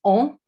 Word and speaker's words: an: really important in french so the word for year is on as you can see a n is on and years with